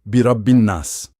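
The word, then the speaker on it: بِرَبِّ النَّاسِ: Vamos separar. Brabi. Pausa. Anas. Pausa. Ligando. Birain nas.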